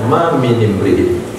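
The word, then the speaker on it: مِنِ امْرِئٍ: Ma min ma minin ma minimri ma min ma min huruf jar imriin hamzah wasal maka nun dikasih baris bawah asakin berkasrah sakin apabila dibaris maka barisnya kasrah maka bacanya ma minimriin tidaklah dari siapapun.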